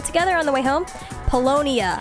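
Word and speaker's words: Paulownia: If you're heading out, do you want to stop by Palomina Mall together on the way home? Polonia. I keep pronouncing it wrong. Polonia.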